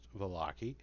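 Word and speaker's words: Vallaki: The town Valaki, pronounced Valaki, seems like a safe haven from the evils of the Savlich Woods.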